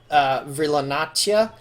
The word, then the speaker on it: Virlanacia: He has an Aquamarine name, which is Virlanacia, or in their language it would be pronounced Virlanatia.